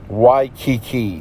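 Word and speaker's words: Waikiki: believe this is pronounced y Kiki W AI k i Ki like the Hawaiian island I don't know if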